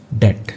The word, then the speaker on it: debt: Milk डेट, इसको डेब्ट नहीं पढ़ते हैं, बी यहाँ पे साइलेंट होता है, ओके, लेकिन लिखा जाता है तो इसको पढ़ेंगे डेट।